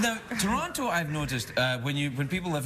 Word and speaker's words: Toronto: Well, Toronto, I say it like a Scottish person, not unlike the people who built Toronto.